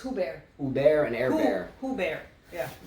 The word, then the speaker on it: Hubert: By the way, Casper, thanks for the pronunciation. All right. Hubert. It's Hubert.